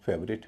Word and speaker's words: favourite: और इसमें ITE से पहले OU है, OU का उच्चारण अ हो रहा है, और उससे पहले जो है FA, इसका उच्चारण ए हो रहा है। फेवरेट, कई लोग इसे फेवरेट कहते हैं, गलत कहते हैं, इसका उच्चारण फेवरेट है।